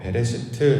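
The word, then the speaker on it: בְּרֵאשִׁית: 이것을 히브리어로 베레시트 이렇게 발음하는데요.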